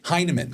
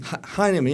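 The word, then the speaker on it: Hyneman: Heman. Heinman.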